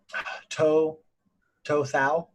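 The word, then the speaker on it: Tou Thao: That was To Thao, I think is how you say his name.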